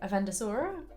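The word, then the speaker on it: Avendesora: Avendosora? Bingo. Yeah, 100%. I mean, that's easy to read. All right. How would you pronounce this one?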